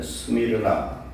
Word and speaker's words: 스미르나: 소모나는 원래 스미르나 그렇게 발음을 하는데 우리 한국어로 소모나 이렇게 기록을 합니다.